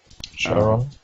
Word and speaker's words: Charon: okay just checking is isn't it pronounced sharon not charon charon i say charon but that's me all right blame it